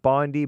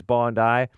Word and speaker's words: Bondi: And the Bondi Beach attack, it looks like Bondi, but it's Bondi. You know those Australians, they pronounce things funny.